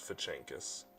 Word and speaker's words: Fazakis: Oh, it is Fachenkis. Okay. Fachenkis, but it's spelled Fazakis.